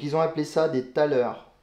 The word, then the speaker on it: thaler: Donc ils ont appelé ça des thalers. T-H-A-L-E-R. Je pense que ça se prononce comme ça, en français en tout cas.